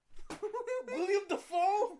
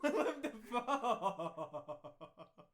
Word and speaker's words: Willem Dafoe: William Dafoe? Willem Dafoe. Willem Dafoe. Say his name right.